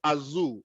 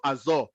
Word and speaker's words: Azure: Amazon web services and Microsoft Azu or Microsoft Azure it depends on how you pronounce it but it is spelled